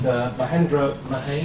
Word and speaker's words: Mahendra Mahey: And Mahendra Mahey, I pronounced yep, that that's right, correct.